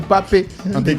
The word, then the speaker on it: Pape: tous les sénégalais s'appellent papi. Ah c'est plus pap. Il y a plus de pape là-bas en fait. Non c'est papé je ou papé prononcer le e.